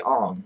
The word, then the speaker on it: Aang: And Aang is not pronounced Aang. It's really Ong.